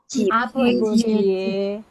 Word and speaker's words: 아버지의: Jadi kalau menunjukkan ini punyanya siapa, maka harus dibacanya pakai e. Contoh, misalnya saya punya kata aboji. Artinya apa aboji itu? Ayah. Terus saya selipin 1 huruf, lalu ji. Artinya rumahnya ayah. bacanya apa? 아버지의 집. Abojie. Dibacanya E.